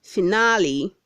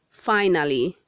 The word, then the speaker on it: finale: red 159 says finale say finale not finally word 160 says feasible